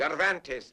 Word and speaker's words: Cervantes: Donkey Hotay by the Spaniard whose name is practically impossible to pronounce. Cervantes, man.